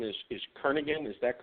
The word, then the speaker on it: Kernaghan: Mike, your last name is Kernaghan, is that correct? Yeah, that'd be the proper way to pronounce it, Kernaghan or Kernaghan. Some say tomato, some say tomato.